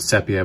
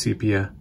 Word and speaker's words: sepia: heard a lot of people saying the word sepia but it's pronounced sepia it's been around for a long time and